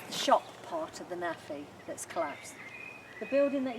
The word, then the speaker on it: NAAFI: NAAFI stands for Navy, Army, Air Force Institute.